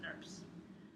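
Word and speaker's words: snRNP: Spliceosomes are composed of 5 subunits known as SNRMPs, pronounced SNRPs.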